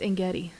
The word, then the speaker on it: En-gedi: I think it's En-gedi. Okay. Think of like Serengeti.